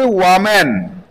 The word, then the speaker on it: woman: ম্যান হয়ে যাবে ওয়াম্যান। ওয়াম্যান, WOMAN। এটার উচ্চারণ কিন্তু ওম্যান বলবে না কেউ।